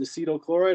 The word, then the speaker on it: acetyl chloride: chloride right you use this is called acetylchloride or acetyl chloride depending on who you are how you pronounce it so acetylchloride yes and